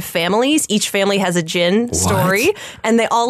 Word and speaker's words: jinn: And the, or jinn. I always pronounce the D on that. You don't say the D. The jinn.